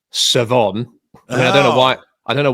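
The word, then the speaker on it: Shavon: because his name is spelt Chavon, but is pronounced Savon.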